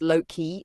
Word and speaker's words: Loki: Loki, pronounced Loki, is one of the most controversial figures in Norse mythology.